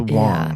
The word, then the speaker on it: Wang: It's It's pronounced spelled Wang, but pronounced Wong.